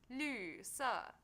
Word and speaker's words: 绿色: Lü is pronounced with a special fifth tone in Chinese. Although not a lot of words use this tone, it is important to say it right. Listen carefully. 绿色.